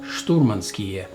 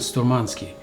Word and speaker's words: Sturmanskie: session but at least you know how to pronounce those two words commandeer ski and Stormin ski not command us key and storm on ski commandeer ski and too much skill okay now